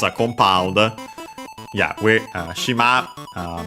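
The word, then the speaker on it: 島: Yeah, shima means island on its own, accent on the last mora.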